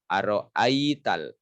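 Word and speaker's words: أرأيت: Aro'aital, aro'ai bukan ai. Aro'aital, tahan dulu setiap ada tasydid. Aro'aital lazi yukazzibu biddin.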